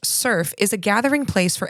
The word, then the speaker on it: SRF: So SRF, pronounced SURF, is a gathering place